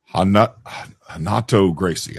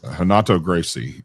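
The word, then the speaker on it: Renato Gracie: I mean, I did Hanato Gracie. I had to pronounce it proper. Hanato Gracie, and he's funny.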